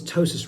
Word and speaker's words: ptosis: last couple years is tossis repair. Sotosis resp repair is spelled with a silent p. P t o s i s.